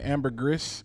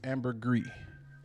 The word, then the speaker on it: ambergris: I know people say ambergris, but it's ambergris. You don't pronounce the is.